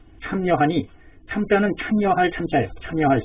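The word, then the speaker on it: 參: 다시 더욱 능히 이 맥으로서 그것을 또 참여하니 참자는 참여할 참자예요. 참여할 참. 그래서 어떤 것에 같이 참여하는 것을 참이라고 합니다. 1, 2, 3 할 때는 3인데 이것이 어디에 참여하다, 관여하다 할 때는 참으로 발음이 된단 말이죠.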